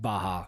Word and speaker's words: Baja: have to go to moe's i know it's pronounced baja but we were making a joke about how people in the south especially say baja fresh because they also say like quesadilla even when